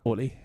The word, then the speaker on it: Oli: London friend ho olle that is how you pronounce it is that how most people uh call you yeah Olie yeah Olie yeah I mean you guys are pretty spot